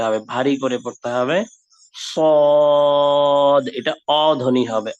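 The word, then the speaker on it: صاد: সোয়াদ কোনো উচ্চারণ নাই, হুবহু যে উচ্চারণটা আরবিতে হয় সেটাকে বাংলা একটু বাংলা বা ইংলিশ মিক্স করে লেখার চেষ্টা করেছে। সোয়াদ হবে না, এটা এটা হবে সদ, সদ, সা সি এরকম পাতলা না হয়ে সদ হরফটা হচ্ছে মোটা হরফ,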